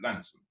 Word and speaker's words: Launceston: And in fact, the farm is on the Devon-Cornwall border near a place called Launceston, or as they say down there, Lanston. You've got to pronounce it Lanston.